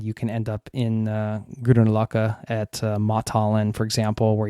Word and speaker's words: Grünerløkka: If you want to spend some time in a neighborhood for nightlife, like we mentioned before, Grünerløkka is the neighborhood probably that you want to